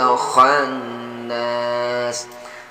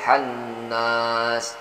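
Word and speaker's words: ٱلْخَنَّاسِ: waswasil khannas nah kemudian sering juga sahabat-sahabat kita membaca khannas ini khan ini sering hanya ah kecil bisanya begini nih syarril waswasil khannas Ini hanya ada titik 1 diatas hanya baktinya hanya hold bukan hal jasa edit keluarnya itu dari pangkal tenggorokan hold hold Hold dengan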